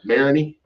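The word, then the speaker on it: Marigny: Yes, the uh Mariny, I believe they pronounced that, which is a cool cool neighborhood.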